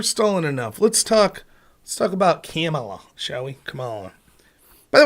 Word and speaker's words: Kamala: Let's talk about Kamala, shall we? Kamala. By the way, I still don't know how to pronounce her name fully, and I don't give a shit at all.